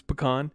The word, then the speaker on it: pecan: yeah I'm with you pean and someone I heard today was like pean I'm like pean what it definitely not how you say it and it's pecan y uh realtor I